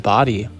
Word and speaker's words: Bodie: body and bodies it's currently spelled bod and pronounced body so it's body Island Lighthouse and it is a beautiful structure